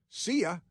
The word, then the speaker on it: Cea: Her first name is spelled CEA. CA like a government organization abbreviation or something. And when she leaves, do people say CIA? Uh CIA Weaver is her name.